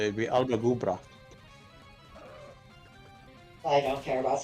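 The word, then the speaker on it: Alba gu bràth: See, if you wanted to technically say that correctly, it'd be Albagubra.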